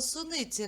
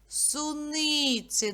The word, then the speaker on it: суниці: слово цукерки місяць суниці скажіть слово суниці на скільки складів ділиться на чотири вірно А на який звук падає наголос суниці на звук и погляньте на цю ілюстрацію